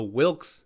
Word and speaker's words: Wilks: a man or a woman apparently i've been pronouncing it wrong the wilks not the wicks the wilkes equation looks like on a graph